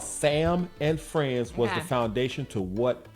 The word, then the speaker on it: Sam and Friends: In the 1950s, a show called Salmon Friends was the foundation pronunciation. All right. Salmon like s a l m o n. Salmon friends or Sam and friends.